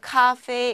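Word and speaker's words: 咖啡: 우리 커피랑 카페 어때요? 발음 좀 비슷한가요? 네, 그래서 중국에서는요, 커피를 카페 이렇게 표현을 합니다.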